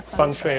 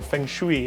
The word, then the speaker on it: feng shui: Am I saying it correctly? Yeah, feng shui or feng shui, as people like to say it.